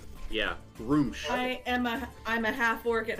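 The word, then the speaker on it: Gruumsh: It is pronounced Groosh. Groosh. Yeah, Groosh.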